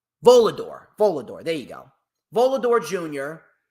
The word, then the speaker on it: Volador: How do you pronounce his name? Volador.